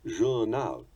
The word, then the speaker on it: journal: Take also the two words journal and machine, which English has inherited from French. We pronounce them journal and machine. The French give them their characteristic equal stress, journal and machine.